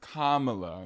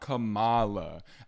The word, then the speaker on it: Kamala: lady is funny but her name is Kamala not Kamala I know you hear